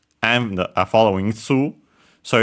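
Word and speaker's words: ツー: The two, most likely in this case, is pronounced like in English, tsu, well, of course, with the difference that they use that is one of the cases where they simply use the tsu to make it to change the to add they added the vowel as usual, yeah, by adding nowadays it's pronounced tsu with ts instead of simple t.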